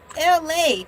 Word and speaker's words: ELAY: king be and I, LA, pronounced like LA, like the city I'm not from there, but I'm breezy truly believe that there is a such thing.